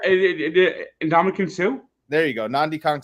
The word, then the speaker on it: Ndamukong Suh: I have the same problem with Nnamdi Kong Su. I can't say his name right. Yeah, Ndamukong Suh.